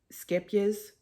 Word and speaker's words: Scheepjes: But I found 2 balls of this Scheepjes, depends on where you're from, how you say it, cotton.